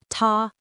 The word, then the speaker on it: 他: They're both pronounced ta. They're homophones, but they're not the same.